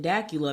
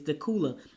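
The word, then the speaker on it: Dacula: the cute little so when i first moved here um to gwinnett i said dakula because it's spelled d-a-c-u-l-a right so i'm like dakula because i'm thinking dracula so dakula and so somebody goes no it's not dakula i'm like what is it it's the cooler and it's not even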